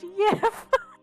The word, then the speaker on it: gif: My boyfriend just said it's not pronounced GIF, it's pronounced YIF. Okay, so funny thing. GIF is an old English word, and it is pronounced yif.